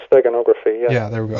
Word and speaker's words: steganography: And this guy, Trithamaeus, what kind of subject were he, involved in behind the scenes with this I can't pronounce it, stenographia? Yeah, long word, steganography.